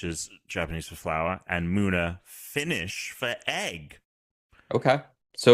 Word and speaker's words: Munna: maybe it's Munna. Yeah. Of Moo. No, it is Moo because that's how you pronounce Mu.